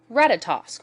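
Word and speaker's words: Ratatoskr: go but there's also ratatosk or ratatosker it depends on your pronunciation um but I personally say ratatosk it means drill tooth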